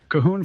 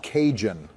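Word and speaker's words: Cajun: Kahoon fries? You know, the seasoned fries from Popeye's. It's called kahoon. Joe, how long have you been saying it like that? It's pronounced kinjun.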